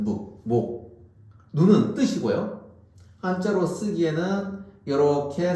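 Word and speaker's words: 目: 눈을 우리는 뭐라고 읽냐? 한자로 소리로 읽으면 목이라고 있습니다. 한자는 목.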